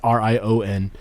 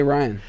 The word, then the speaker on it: Rian: His name is Rian. It's Rion. And they get Just as weird of a way to just not say Ryan.